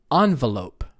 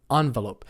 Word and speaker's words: envelope: one how about um envelope it's a three syllable word envelope some americans say envelope that's fine too as long as you stress the first syllable envelope envelope no big deal